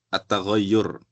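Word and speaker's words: التغيّر: Ini bacanya at-taghayyur. Artinya perubahan.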